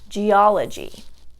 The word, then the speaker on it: geology: For example, geology.